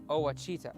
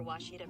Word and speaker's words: Ouachita: uh I've heard people say OA oh a Oita is it pronounced Oita searching for wasita Baptist University back in Texas everybody pronounces it